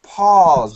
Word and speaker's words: Paul: And American pronunciation, this name, P-A-U-L, sounds like Paul, Paul, P-A-W-L, Paul.